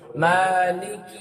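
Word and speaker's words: مالك: রাহিম তারপরে আপনি আসবেন মা এই মাটা খারাপ টান দিবেন টান না দিলে মানে পাল্টাবে মালিকি ইয়াওমিদ্দিন মালিকি ইয়াওমিদ্দিন ইয়াকা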